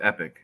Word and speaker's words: Epoch: the epoch times no it's epic it's how they pronounce it epoch the meadow tomato biddles